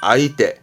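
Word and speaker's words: 相手: 상수이 한국어로는 상대방을 의미 상대방 발음은 아이때 아 때처럼 상자의 독은 아입니다 꼭 챙겨 시고요 그래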